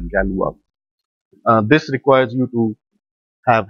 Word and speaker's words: Galois: They write it as Galois. The pronounce is at Galois.